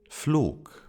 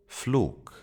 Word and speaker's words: Flug: And to complete the trio, we have the G sound, G, that if it appears at the end of a word, it is pronounced as a K, K. Hamburg. Hamburg. Flug. Flug.